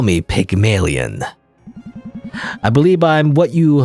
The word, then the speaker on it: Pygmalion: uh it's a play apparently how do you pronounce it though I'm gonna google Pygmalion pygmalia Pygmalion Pygmalion Pygmalion apparently Pygmalion Pygmalion all right I go to translate Google